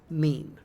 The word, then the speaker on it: meme: My meme comes from the suitable Greek word, but I want a monosyllable that sounds a bit like gene. I hope my classicist friends will forgive me if I abbreviate my meme to meme.